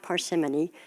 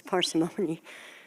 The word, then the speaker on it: parsimony: that's an interesting word I was mispronouncing it for a long time it's not parsimony it's parsimony and I think some of